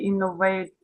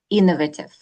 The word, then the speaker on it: innovative: A new and very innovative. Смотрите, вот это читается innovative. Вот хотя нам хочется сказать, как мы говорим, да, инновационный, Да. хочется сказать innovative, но правильно Innovative. Вот первый слог.